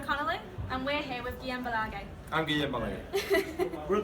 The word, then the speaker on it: Guillem Balague: You can pronounce his name as well. Who starts? Who Just a starts? little start. It's Guillem Balague.